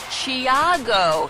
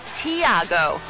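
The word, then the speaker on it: Tiago: name but he says the pronunciation of his first name is closer to chiago not thiago and he added with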